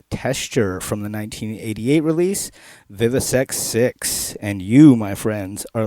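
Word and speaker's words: VIVIsectVI: 666, coupled with the word sect, and it's pronounced Vivisex 6.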